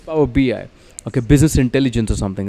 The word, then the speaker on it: Power BI: beer because power bi is it power b or power by how do you say that power bi it's power bi okay business intelligence or